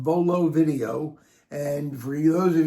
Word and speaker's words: Vuolo: The website is called Vololo Video. And for those of you who want to write this down, it's V U L O. So, there's a U after the V, but you don't pronounce it.